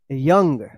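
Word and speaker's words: young: इसका सही उच्चारण होगा यंग।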